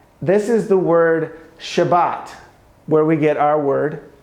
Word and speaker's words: Shabbat: You'll also note that this is the sh sound, this is the b sound, and that's the t sound for the number 7, which is pronounced Shabbat.